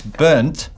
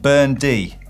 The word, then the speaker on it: Bernd: You just don't pronounce it as T-Jeerd. Also, I'm guessing it's burnt and not burnedy.